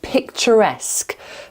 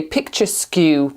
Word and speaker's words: picturesque: vibrant, majestic, tranquil, and picturesque. Picturesque. My mom used to always say um as a joke, she used to say picture skw because it kind of looks like it's spelled like picture skew.